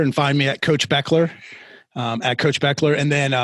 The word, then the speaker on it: Bechler: find me at Coach Beckler, at Coach Beckler. And then my website is Spell it because it's not the way it sounds. Coach Beckler, it looks like Bechler. So Becler, Coach Beckler.